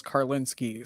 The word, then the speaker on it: Karlinski: So my old last name was Karlinski, so that always screwed people up and no one knew how to spell it. Well, there were a lot of SKIs and it's actually SKY.